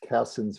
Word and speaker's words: Cassin's: white guy probably from england c-a-s-s-i-n apostrophe s cassin's virile so there's a lot of castings this